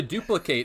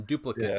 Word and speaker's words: duplicate: Yeah, so like to duplicate is the verb, but then duplicate is the noun.